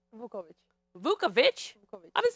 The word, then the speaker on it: Vukovic: How do you say it? It's Hungarian, so let's hear it the right way. Vukovic. Vukovic?